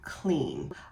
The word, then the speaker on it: clean: I would say, all right, so let's remember our blends. What does CL say? CL says cool. That's right, CL says cool. All right, so then if I have two vowels together, the first one's gonna do what? Oh, the first one's gonna do the talking and the second one is silent.